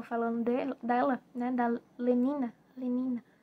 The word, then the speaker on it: Lenina: Lenina, acho que é assim, Lenina, eh, que se pronuncia, tá, gente?